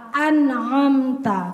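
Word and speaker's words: أنعمت: Ya, kalau Umi tilawah biasa an'amta, karena ain itu tidak syiddah, maka dia nggak boleh diucapkan dengan ngegas atau menekan. Yang menekan itu hamzahnya, yang punya sifat syiddah.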